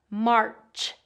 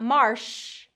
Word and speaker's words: March: So this one has that R vowel, R, and then the ch sound. So make sure it's a burst and not a continuous sound. So if it's a continuous sound, it's going to come out as shh. And I don't want that. We want a burst sound. March, not marsh, March.